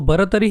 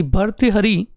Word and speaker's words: भर्तृहरि: और भरतरी ही लिखेगा किंतु इसी का सही उच्चारण है वह किस प्रकार से कि भर्तृहरि यूज ने सुना तो भर्तृहरि ही बोलेगा भर्तृहरि कि पड़ेगा और भर्तृहरि ही लिखेगा इस प्रकार भाषा का